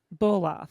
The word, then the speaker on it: Bolof: Is your last name is pronounced Bolof or Baloff, or how do you pronounce it? Bolof, like That's what I figured.